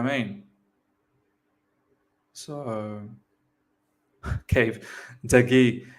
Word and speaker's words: De Gea: Is it David De Gea? De Gea? De Gea? De Gea? I find it hard to pronounce that name, man. David De Gea. I think that's how you pronounce it, David De Gea.